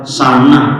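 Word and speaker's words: سنة: Jadi kembali ini bacanya adalah sana. Kalau sana itu tahun. Kalau sunnah ya hadis itu. Sinah itu malah ngantuk.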